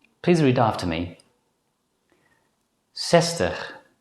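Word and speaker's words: zestig: Before we conclude this lesson, it's worth mentioning that nowadays many native Dutch speakers pronounce the letter Z as a voiceless consonant S.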